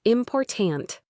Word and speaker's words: important: Now try important. It's important. The stress is in the middle.